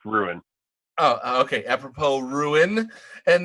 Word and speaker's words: Wuin: Apropos Win, WUIN, right? Yeah, but it's pronounced Ruin.